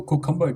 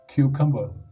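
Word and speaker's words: cucumber: तो कुछ लोग इसको कुकम्बर कह के प्रोनाउंस करते हैं जो कि गलत है, तो इसको ठीक कैसे बोला जाएगा? क्यूकम्बर, ठीक है, क्यूकम्बर।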